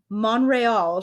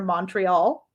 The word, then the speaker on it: Monreal: her last name is monreal she corrected joel mchale several times because he kept calling her montreal and she was like no that's not how you say it he was like